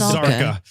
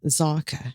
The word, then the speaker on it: Zaka: And I thought it was Zarka. But all right, Zaka is fine too. Yeah, you have to pronounce it in the mother tongue, Zaka.